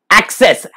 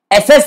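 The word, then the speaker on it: access: एसेस नहीं, गलत pronunciation मत करना. एसेसमेंट का वर्ड एसेस हुआ, वो एसेस अलग है, ये एक्सेस है, एक्सेस घुसना.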